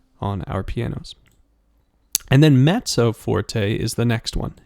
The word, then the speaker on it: mezzo: e z z o but sounds like met it almost sounds like mezzo uh like almost like there's a t in there but not quite um and then mezzo